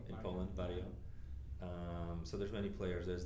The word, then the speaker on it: Varjo: I mean, you have Varjo. How do you say that in Europe? Yeah, it's Varjo in Poland. Varjo.